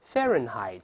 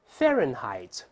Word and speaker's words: Fahrenheit: 氏这个词，慢慢来 Fahrenheit，注意第一个 H 不发音啊，再来一遍 Fahrenheit，注意拼写，不可以